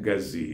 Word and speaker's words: ngazi: All spoons are called ngaji or ngazi. Ngaji is the central Igbo. That is the Igbo Izube, the generally accepted Igbo word. Okay. Then ngazi is just another name based on different dialects you find in Igbo land.